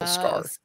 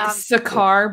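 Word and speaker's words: Skaar: comment before people comment it is spelled s-k-a-a-r is how you spell scarf like sakar but scar Sky I've had dyslexia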